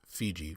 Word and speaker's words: Fiji: and much in demand they called their home VT by the tall guns called it fee see and it was by the foreign pronunciation Fiji first promulgated by Captain James Cook that these islands are